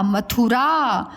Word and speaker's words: मथुरा: इसके उच्चारण में समय कम लगता है, इसके उच्चारण में समय ज़्यादा लगता है।